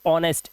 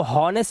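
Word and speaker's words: honest: अब एच कह रहा है ओ से पहले अगर एच आए तो साइलेंट होता है। यहां पर देखिए ओ से पहले एच है। हम घंटे को कैसे बोलते हैं? हम बोलते हैं आवर। इसी तरह से ऑनेस्ट। इसको हॉनेस्ट नहीं पढ़ते ऑनेस्ट पढ़ते हैं।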